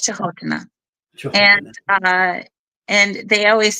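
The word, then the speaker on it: Canotila: spelled Canotina, but it's pronounced Chahotana.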